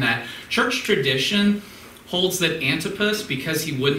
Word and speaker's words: Antipas: know much about him and Antipas or Antipas and I pronounce it how you would say Antipas is probably the closest but whoever it was